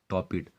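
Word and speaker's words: torpid: यहाँ are silent है। टॉपिट।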